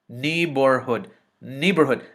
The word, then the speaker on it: neighborhood: the next vowel is i'm sorry the next syllable is bohr nebor h-o-o-d hood knee neighborhood neighborhood this word is neighborhood okay good next